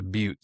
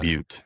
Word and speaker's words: Butte: It's just a butte, so it's not a volcano or anything like that. But Butte. That's how you say it. Butte.